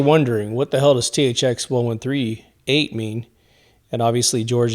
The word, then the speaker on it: THX: His wife calls him THX, almost like Tex, right?